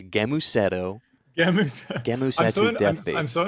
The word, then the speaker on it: Gēmusetto: First of all, it's a hard G. It's Gēmusetto.